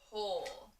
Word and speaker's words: whole: So in this word, the W is kind of silent, and you only hear the H, but it is spelled with a W-H.